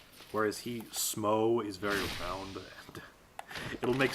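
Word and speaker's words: Smough: say his name, and it's like Smo with S-M-O-U-G-H. People think it's Smo, or Smuff, or Smaug. I like Smo.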